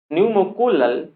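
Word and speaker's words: pneumococcal: पीसीवी is stand for, यानी पीसीवी का मतलब क्या है, न्यूमोकोलल, पी यहाँ पे साइलेंट होता है, न्यूमोकोलल कंजुगेट वैक्सीन, है ना, पीसीवी वैक्सीन।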